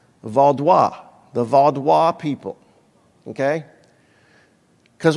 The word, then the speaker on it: Vaudois: That's pronounced Vaudois, the Vaudois people, okay?